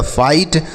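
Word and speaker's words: fight: रहेगा उसे नहीं पढ़ेंगे एफ से पढ़ेंगे फ आई के बाद जी एच टी तो आई हो गया और टी से ट लिखा गया फाइट।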